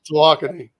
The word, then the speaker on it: Tawakoni: But it's pronounced Tawakoni.